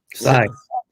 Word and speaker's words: scythe: Side.